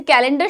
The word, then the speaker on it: calendar: Just as a calendar showcases the days and months in a year, its first syllable should be showcased first by emphasizing on the k. Compare with the last to, ठीक है. जैसे कैलेंडर showcase क्या करता है,